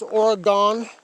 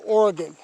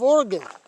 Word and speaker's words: Oregon: that everybody says Illinois it's Illinois the is is silent and for people that says Oregon that's the wrong way saying it it's Oregon I hate it when people say oh so you're from the state of Oregon no I'm not I'm from the state of